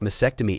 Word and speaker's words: mastectomy: With a smirk, he quipped, "I also learned it's not pronounced mastectomy, it's pronounced mastectomy, it has a T in it.